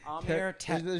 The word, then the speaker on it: Amer: Amer There's no R in there.